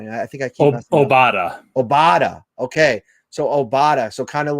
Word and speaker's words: Obada: obada obada okay so obada so kind of like qdoba i keep wanting to say qdoba but it's oh obada okay yeah like obama but with a d gotcha buffalo bills uk